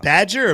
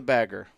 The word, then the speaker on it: bagger: Is it badger or bagger? Do we know the pronunciation of that The last bagger, one? right. It's the bagger.